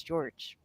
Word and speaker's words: Jorge: I mean, it's spelled like Jorge, but he says his name is George.